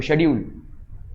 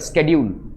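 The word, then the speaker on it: schedule: बहुत सारे फर्क हैं जैसे आप क्या बोलते हो शेड्यूल एक अमेरिकन क्या बोलेगा स्केड्यूल ठीक है ये सारे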